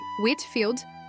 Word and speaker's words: Whitefield: George Whitefield, o trovão de Deus e a voz do grande despertar. Se a história da fé cristã do século XVI fosse um palco, George Whitefield, pronuncia-se Whitfield, seria seu ator principal.